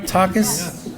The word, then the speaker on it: Takis: Anyways, Michael's parents, Maria and Takis, did I say it right, Takis?